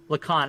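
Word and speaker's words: Lacan: describe it for us the users pronounced like Khan Lacon I don't care what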